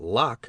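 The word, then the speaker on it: Locke: I think though I did not know that lock is pronounced in only one syllable till many years after I read and reread parts of the human understanding.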